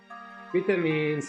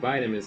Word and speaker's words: vitamin: Vitamins in the UK. Vitamins in the US.